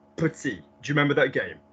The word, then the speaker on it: petit: They're just words that are commonly mispronounced, like, because commonly what happens is premier, as we've just seen, or dernier, or petit, and it's not. It's premier, première, dernier, dernière, petit, petite.